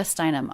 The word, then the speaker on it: Steinem: then we have gloria steinem a proper noun now anytime we have a name it's the last word in the name that's the most stressed so gloria galore the